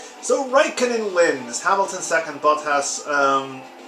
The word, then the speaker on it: Bottas: Hamilton second, Bottas, or Botta, I think it's actually pronounced, third.